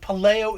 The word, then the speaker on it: Puleo: You know, man, I do either or what have you. Puleo is the Italian way to say it.